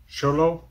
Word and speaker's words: XOLO: XOLO.